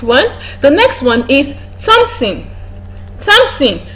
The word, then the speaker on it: Thompson: The next one is Thompson. Thompson, not Thompson. Thompson, despite the fact that it has a th in its spelling, or it has th in its spelling, it is pronounced as t.